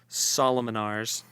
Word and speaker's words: Solomonars: Solomonars. Solomonars? Like King Solomon, and just add R's to the end.